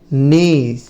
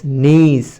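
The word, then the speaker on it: knees: এর উচ্চারণ হয় না কে এন একসাথে থাকলে কে এর উচ্চারণ হবে না শুধু এন এর উচ্চারণ হবে ঠিক আছে তো কে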